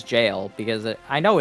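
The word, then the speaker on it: gaol: Yeah, Pokemon jails. Pokemon Gals. No, it is actually pronounced jail.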